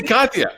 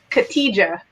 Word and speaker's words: Khadija: I say Katya. I just like Katya. It's okay. The J is silent in many languages, so it throws people off. Say it right again. What is it supposed to be? Khadija.